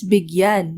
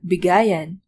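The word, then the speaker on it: bigyan: begin morin ako here when adding an it's begun not bigayen bigayen is another term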